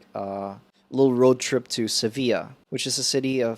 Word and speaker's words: Sevilla: so it's yeah it's it's called seville in english in english it's seville and then in spanish it's sevilla yeah so for future